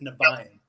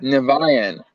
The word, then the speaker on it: Niviane: We pronounce it Niviane, but Niviane. but we hear it different ways wherever we go. So, like I said, Right. we don't really correct people anymore. We just let people say it however they think it sounds.